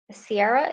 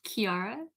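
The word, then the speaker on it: Ciara: thanks so much uh sierra is that how you say your name i'm sorry has raised her hand uh my name is pronounced kiara thank you quarantine and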